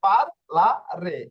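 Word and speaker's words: parlare: যদি আমি আরো একটা উচ্চারণ দেখি, হ্যাঁ, এই যে দেখুন এখানে, আহ এই যে পার্লারের শব্দটা নিচ্ছি, ঠিক আছে, পার্লারের শব্দটা নিয়ে যদি উচ্চারণ করি, এই যে দেখুন, পি আ, পা,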